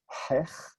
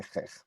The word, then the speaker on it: chech: closer to biblical pronunciation, I'll say hech, but nobody really says that around here. They say chech.